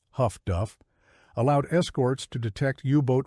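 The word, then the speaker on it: HF/DF: Highfrequency direction finding HFDF, pronounced huff duff, allowed escorts to detect hubot radio transmissions and get a bearing on the transmitter.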